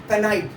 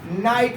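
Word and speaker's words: knight: जैसे एग्जांपल मैंने दे रखा है, यहाँ पे देखिए कुछ बच्चे इसको क्या पढ़ते हैं, कनाइट, कनाइट पढ़ते हैं इसको।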